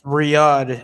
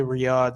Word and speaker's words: Riyadh: Oh yeah, like- it's Riyadh. It's usually Riyadh, Saudi Hmm. Arabia. Okay, I pronounced it wrong.